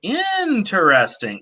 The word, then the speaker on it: interesting: of intonation so you if you say interesting quickly you probably don't pronounce that first e but if you're saying it more slowly interesting you probably wouldn't say it interesting because it sounds weird to say it slowly without pronouncing that e so and there's a